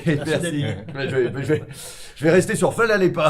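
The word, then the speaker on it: hvala lepa: Je vais essayer du moins comment ça se prononce. Mais merci, vous dites Fala Lepa.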